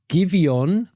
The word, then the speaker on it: Giveon: It's Giveon, Give, E with an accent, but not an acute accent. I'm not sure what that accent's called. It's the flat accent, ON, featuring Leon Thomas.